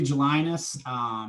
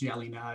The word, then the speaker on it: Gelinas: It's Gelinas. That's actually not how it's supposed to pronounce it. It's Gelina.